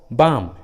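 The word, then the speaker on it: balm: का उच्चारण नहीं करते, जैसे हाफ, टॉक, वॉक, बाम। देखिए सभी इंग्लिश वर्ड्स में एल, ए के बाद आया है, इसलिए रूल के अनुसार एल साइलेंट है, एल का उच्चारण नहीं किया गया है।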